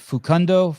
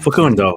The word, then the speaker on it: Facundo: Fukundo. What I say his name? Facundo. We got to at least get that one right.